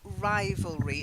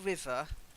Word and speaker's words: rivalry: job okay so just first rivalry it's not like river we say river but rival okay welcome to English